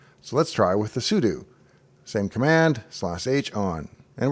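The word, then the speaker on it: sudo: next up is the Pudu command which I've always mispronounced as pseudo but it actually stands for super user do we'll go to a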